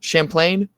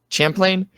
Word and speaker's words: Champlain: for second between Champlin is that how you pronounced at school Champlain Champlain um Carlton and Georgetown University uh and those